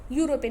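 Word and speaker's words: European: यूरोपियन, देखिए ई तो है लेकिन इसका प्रोनाउंसिएशन यू होता है, तो यू क्या है, कॉन्सोनेंट है, इसलिए यहाँ पे क्या यूज हुआ है, ए।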